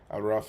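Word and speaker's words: A'raf: Araf is the way to pronounce it.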